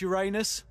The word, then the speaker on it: Uranus: You're putting Uranus off his strike. Actually, it's pronounced Uranus.